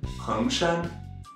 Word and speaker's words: 恒山: Now moving on to the fourth mountain, Hengshan, Mount Heng in Shanxi. Yes, that's right, another Mount Heng, with a second tone as well, but with a different character.